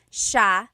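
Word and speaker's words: siya: and then just a note about pronunciation it's Sha Sha the s i y combination makes the Sha sound in theog some regions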